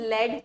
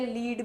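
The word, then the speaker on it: lead: याद रखना next is लेड। ठीक है? लीड भी बोलते हो तुम उसको। लेड हम लोग प्रोनाउंस करते हैं।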